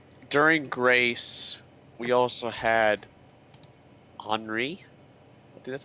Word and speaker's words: Henri: During Grace, we also had Henri. I think that's how you say it. Yes. Henri, that is Which correct.